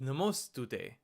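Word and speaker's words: नमस्तुते: And then finally, the last syllable is te. So we write ta with the symbol for a above it to get te. And then you combine them to get namostute. Namostute, which means I'm offering my respectful obeisances to you.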